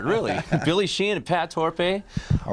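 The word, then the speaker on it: Torpey: Am I saying it right? It's Torpe. Torpe. Not okay. I'm not French. No. So, we played in France recently. It was Torpe. It was Torpe there.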